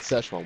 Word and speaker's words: Szechuan: You said Szechuan. It's Szechuan. All right, Szechuan.